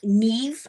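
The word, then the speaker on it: Niamh: Um, Neve, I had to look up how to pronounce that name. Ne. It's spelled N I A M H, but I looked up and you pronounce it ne.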